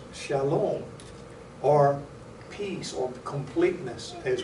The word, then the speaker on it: shalom: And this is the word that is pronounced shalom, or peace, or completeness as we know it.